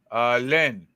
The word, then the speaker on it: Lens: Long? Long. Is that how you pronounce it in French? I always thought it was like Len or Len.